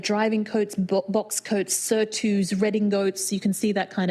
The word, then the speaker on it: redingote: Although redingote is the most fantastic triple meaning because it comes from riding coat being pronounced in French as redingote and then being translated back into in coming back into English as redingote.